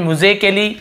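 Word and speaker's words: musically: लिखा हुआ है म्यूजिकली अब यहां पे देखेंगे ए लिखा हुआ है इसे आप मूजा काली है ना या फिर म्यूजिकली ऐसे ए या आ या नहीं पढ़ रहे हैं अ म्यूजिकली पढ़ रहे हैं क्या पढ़ रहे हैं म्यूजिकली तो यहां पे क का के का क ही उच्चारण हो रहा है यहां पे ए को नहीं पढ़ अब आप बोलेगे सर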